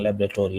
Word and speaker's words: laboratory: Laboratory, that's the right pronunciation, laboratory, not laboratory.